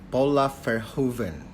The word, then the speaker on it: Paula Verhoeven: Paula Verhoeven. Seharusnya seperti itu ya pronounce-nya.